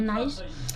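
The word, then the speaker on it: nice: ऑफ नाइस मतलब अच्छा देखिए स्वी के बाद य हो तो उसको पढ़ते है नाइस लिटिल मतलब छोटा सिल्क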